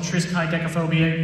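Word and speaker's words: triskaidekaphobia: Up next, we have a percussion ensemble piece called Triskai Decaphobia. Yes, that is how you pronounce that big scary word in the program.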